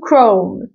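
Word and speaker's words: Chrome: تمام نركز مع بعض كمان في السي اتش بنطق وده سؤالك زي كلمه سكول كمان عارفين الابلكيشن اللي هو اسمه جوجل كروم جوجل كروم جوجل كروم بدخل على الحاجه دي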